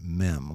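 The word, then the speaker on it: מם: Mem, like in the M in memory.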